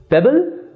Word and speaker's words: PEBL: Pebble is pronounced as pebble as in small stones, but will be spelled as P-E-B-L.